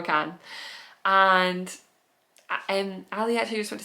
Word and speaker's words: Kahan: Kahan? I would say Kane, but it's not how you say it. Noah Kahan.